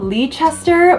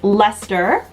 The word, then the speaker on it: Leicester: was about to call lee chester but i looked up the pronunciation and it's just lester i was trying to